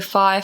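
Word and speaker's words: Fyre: here before, but the Fire Festival. No, I don't think we have. It's spelt F-Y-R-E, Fire Festival.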